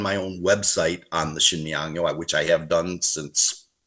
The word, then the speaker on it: Sinmiyangyo: But in this case here, this is spelled SIN. Well, I did the old romanization on my site was SHIN, to give the sh sound.